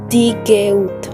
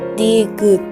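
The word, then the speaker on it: 디귿: En la pronunciación de EU no se pronuncia como Digeut. Digeut. Esa pronunciación es incorrecta. Se pronuncia como una U abierta, como si fuera la EU una sola vocal, que sería Digut.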